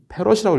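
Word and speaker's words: 패럿: 유전율 다니는 여러분 예를 f를 우리가 아직 익숙하지 않은데 페럿이라고 읽어주시면 돼요 f는 8.854 곱하기 10의 -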